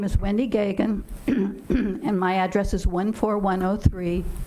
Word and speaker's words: Gagan: Next speaker signed up is Wendy Gagan. Did I pronounce it correct? I'm batting 100 with you. If you'd state your name and address for the record, Wendy. Yeah, my name is Wendy Gagan, and my address is 14103 Greenview Drive, and